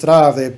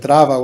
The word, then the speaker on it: Trav: It's, instead of just Trav, they pronounced it Trava with a Trava.